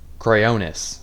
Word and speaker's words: Cryonis: Cryonis. There we go. That's how you pronounce it.